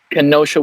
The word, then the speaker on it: Kenosha: Kenosha, Wisconsin, involving Jacob Blake.